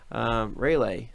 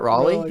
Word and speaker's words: Raleigh: Car cleaning guru watching from Raleigh, North Raleigh. Carolina. That's Raleigh. Is that how you say that, Raleigh? Yeah. Who is the one that said that was going to be called Raleigh?